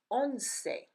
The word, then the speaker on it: once: to remind you that the letter E is not silent at the end of a word as it is in English so for example in